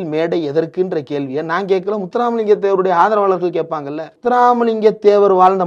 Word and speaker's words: முத்துராமலிங்க தேவர்: முத்துராமலிங்க தேவர். இது வந்து நவுன். இதை உச்சரிக்க தெரியணும்ல. முத்து common name. Ram common name. லிங்கம் காமன் நேம். முத்துராம் லிங்கம்னாவது சொல்லி இருக்கலாம். முத்துராம் முடியல.